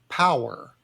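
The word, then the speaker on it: PWRR: just uh it's a it's a strange spelling but phonetically power but spelled with r as opposed to e r at the end and the the P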